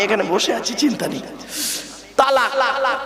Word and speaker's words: তলাক: তালাক। কি বলে? শব্দটা কিন্তু তালাক নয়, শিখে যান আজকে। শব্দটা তালাক নয়, শব্দটা হলো কি? তলাক। কি বললাম? তলাক।